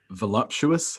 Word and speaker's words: voluptuous: sure why right like everyone seems to put like an m in there and say well I